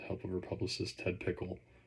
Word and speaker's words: Pikul: of her publicist Ted Pickle. That's Pikul, but probably pronounced Pickle.